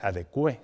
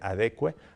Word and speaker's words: adecue: Se adecue, no se dice adecue, sino se adecue a la realidad, porque también cometemos algunos errores en ese sentido.